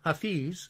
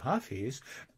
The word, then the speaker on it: Hafiz: mentality as chaucer had this man was named hafiz or the germans pronounced it hafiz and i i'm interested